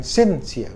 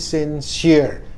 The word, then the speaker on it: sincere: Nah, ini lagi sincere ya, tulus, bukan bacanya bukan sincere tapi sincere. Tekanan pada suku kata kedua, sincerest, sincerer, sincerest ya, tulus, suci.